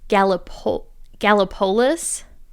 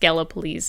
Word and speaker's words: Gallipolis: And it's actually looks like it's pronounced Gallipolis. And it's but it's actually pronounced Gallipolis in true Ohio fashion.